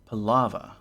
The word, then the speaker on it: Palava: rhymes with laa ah palava rhymes with lava if that trips you